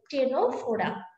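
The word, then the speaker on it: Ctenophora: যেমন একটা হচ্ছে টেনোফোরা, যদিও নামটা শুরু হয়েছে সি দিয়ে কিন্তু উচ্চারণ হলো টেনোফোরা।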